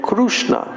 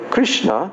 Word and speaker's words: Krishna: called him Krishna but the oran pronunciation sounds like krushna we call him Krishna and they call him krushna in Ora then in Western